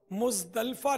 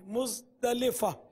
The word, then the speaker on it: مزدلفہ: اس کا تلفظ عرفات نہیں ہے، عرفات، عین اور را پر دونوں پر زبر ہے، عرفات، اور مزدلفہ نہیں ہے، مزدلفہ، لام کے نیچے زیر ہے۔ میدان عرفات سے مزدلفہ